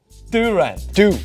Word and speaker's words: Durant: Durant. D-O-O-R-A-N-T, phonetically spelled out in correct pronunciation.